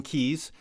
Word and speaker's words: Keyes: His name is Damian Keys. It's last name is spelled Keyes.